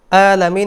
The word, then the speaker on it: العالمين: হরফটি হচ্ছে আইন, আলামিন, কণ্ঠনালীর মাঝখান থেকে উচ্চারিত হবে। আলামিন আমরা অনেকেই এখানে ভুল করে থাকি, এই ভুলটি আমাদের করা যাবে না। আলহামদুলিল্লাহি রব্বিল আলামিন, আলামিন। আবার বলছি, আলহামদুলিল্লাহি রব্বিল আলামিন, গলায় একটু চাপ দিয়ে আলামিন।